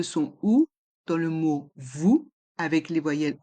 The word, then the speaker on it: vous: Vous voyez, il y a le son OU dans le mot vous et le S est muet.